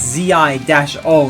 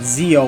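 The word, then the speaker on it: Zi-O: Common Rider Zo, that's Zi- O, not Zo like Power Ranger Zo.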